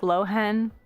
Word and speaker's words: Lohen: I know that they pronounce the H like Lohen, but I kind of like Lowen more, so I'm gonna keep calling him that.